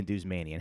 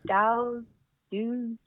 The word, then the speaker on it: Douzmanian: thank you and wow you pronounced my last name right good job how do how how else do people pronounce it um generally they don't they they'll like start they'll be like dao dudes yeah like sorry how